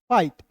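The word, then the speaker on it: fight: अब देखिए यहां पे एफ है तो फ लिख दीजिएगा और आई जी एस टी है दोस्तों तो इसका उच्चारण आई के रूप में करेंगे। हो जाएगा फाइट। एफ आई जी एस टी फाइट।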